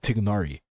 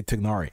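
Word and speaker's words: Tighnari: about this for months how his name was supposed to be pronounced tigari right because that was the whole thing there wasn't representation all culture protion this supposed to be say tigari and notice how nobody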